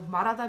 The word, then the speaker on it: 말하다: So 말하다 means to say, to speak. It's an R sound because again it has that H afterwards. So rule number 2 is